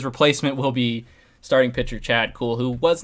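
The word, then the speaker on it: Kuhl: uh so his replacement will be starting pitcher Chad cool who was not particularly good with the Colorado Rockies last year but then again who is really um it's pronounced cool even though it's spelled kahul uh he's got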